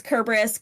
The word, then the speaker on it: Cerberus: kerberus for ex example there is no Soft C Sound in the Greek alphabet so like people will say cus but that's not how it's pronounced it's kerberus kir things like that